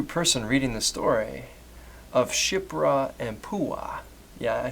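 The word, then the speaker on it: Shiphrah: sure any hebrew person reading the story of shipra and pua yeah i said that right be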